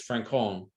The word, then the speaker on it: Francon: When Franken brings him in, by the way, I love the fact that Maritza always says Francon, which is she's giving the Spanish pronunciation, whereas we all say Franken.